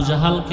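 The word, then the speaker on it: أبو جهل: আবু জাহেল। জেহেল না জাহাল। নাম হলো ইমাম গাজালী বলে গাজ্জালি না গাজালি বিশুদ্ধ উচ্চারণ গাজ্জালি না আর আল্লাহ যদি কবুল করে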